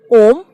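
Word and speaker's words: homme: So the examples are, first example is man, and man is om, and it is pronounced as om because H is silent here.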